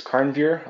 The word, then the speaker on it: Karnveer: Yes, my name is Karnveer.